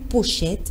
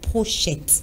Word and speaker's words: pochette: puissions bien prononcés selon c'est le mot pochette et non prochaine allemands surtout pour les